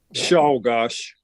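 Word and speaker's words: Czolgosz: of History keep going how does he pronounce his name Leon shaash shaash thank you it doesn't look like that it's CZ G s z but it's um that's how it was pronounced at the time and he was we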